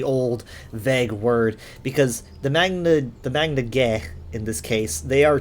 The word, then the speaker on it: Magna Ge: Secondly, though, I've always said Magna G, and some evidence for